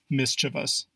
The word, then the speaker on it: mischievous: of the word but the e sound after V isn't even there to begin with Library proper pronunciation is